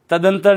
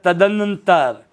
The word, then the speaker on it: तदनंतर: तदंतर नहीं होता, ये होता है तदनंतर। तदनंतर, ध्यान रखना उच्चारण में देखो, तदंतर।